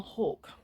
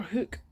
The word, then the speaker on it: Hook: I said he was Nathaniel Hoare. It's Nathaniel Hoke. Or Hook. So that's fine.